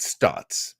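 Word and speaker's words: Staats: That's how you say it. Stotts, as if it's just an O.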